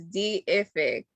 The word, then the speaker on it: Deific: My business is Deific, Deific. A lot of people see it and they pronounce it wrong. It is Deific.